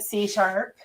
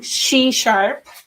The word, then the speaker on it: SheSharp: so much c sharp i have been pronouncing it c sharp everywhere but i'm trying she sharp and and yeah i